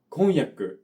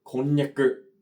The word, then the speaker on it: 婚約: 運の音が区別できなくて婚約ではなく婚略と言っていたんですね。